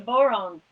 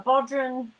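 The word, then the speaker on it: bodhrán: is this drum is called a boron um celtic celtic drum as scotland they call it a bodran uh in ireland they call it like uh bran or a boron and it's spelled b-o-d-h-r-a-n if you don't play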